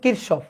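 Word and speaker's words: Kirchhoff: cars অফস current law current law এর উচ্চারণটা হচ্ছে কিরসফ অনেক সময় কেউ কেউ কিশফও বলে কথা একই ঠিক আছে কারসফ কিরসফ একই কথা ঠিক আছে নামে কিছু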